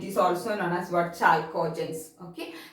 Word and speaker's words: chalcogens: Chalcogens, okay. Some of them they will pronounce it as chalcogens, anyway you can pronounce, okay.